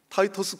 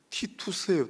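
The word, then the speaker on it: Titus: 여기를 방문한 전도자, 귀한 전도자인데 타이터스 코언이라고 되어 있지 않습니까? 미국 사람들이 발음하니까 저렇죠. 티투스예요, 티투스.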